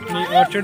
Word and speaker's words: orchard: ऑर्चर्ड ऑर्कर्ड नहीं होता? ऑर्चर्ड होता है ना, सी एच है ना।